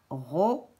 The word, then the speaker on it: robot: Là, j'ai le mot robot avec une lettre muette à la fin, robot.